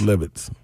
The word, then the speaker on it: Levis: Not Levis, Levis. Make sure to tell me I hated him. Say it right, Slay. I just said it was Nathaniel. I ain't got nothing to do with hating him. Yeah, we don't hate Will Levitz. It is Levitz.